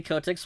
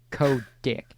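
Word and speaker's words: Kotick: a for a joke you're you're you're mispronouncing the the the te in there dude it's dick oh my apologies Co dick I don't know it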